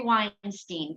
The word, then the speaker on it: Weinstein: yes absolutely so let's talk about little Jeffrey Weinstein am I pronouncing your name correctly yes absolutely okay so